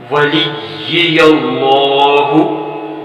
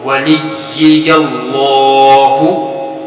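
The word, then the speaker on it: وَلِيَّ اللَّهِ: کی کوشش تو کریں، پھر موازنہ کریں گے۔ ولی اللہ، ولی اللہ، ولی اللہ۔ اب ہجے کے ساتھ دیکھیے، واو زبر وا، لام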